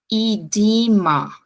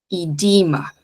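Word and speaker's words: edema: paciente tem um marcasso idima esses dois e t o som igualzinho o do I em português portanto idima e electrolytes electrolytes Ok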